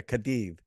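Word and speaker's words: Cádiz: It's like with a TH. It's almost like a TH. It's like a Cadiz. It is. The C's and Z's are pronounced with a slight th, you know, yes. TH sound. It's very gentle. It's not a, you know, it's not a lisp per se.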